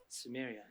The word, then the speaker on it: Samaria: Samaria.